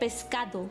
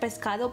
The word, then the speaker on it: pescado: I can tell just by the accent, because usually in Spanish we say pescado, like we pronounce every single letter in the word pescado, but she calls it pescado.